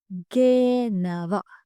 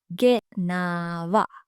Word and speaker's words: gena: But the past tense is genawa. Genawa. The present tense has the long A sound as the first sound. Genawa. But in the past tense, the second vowel sound is the long sound.